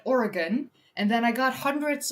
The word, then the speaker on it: Oregon: or no, I said Oregon. Yeah, I said Oregon. And people hated me cuz the aura did not go wasn't gone. I got like thousands of